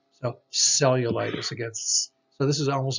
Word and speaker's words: cellulitis: If the word begins with a C followed by an E, an I, or a Y, similar to those vowels we talked about, it has also a soft C or the S sound.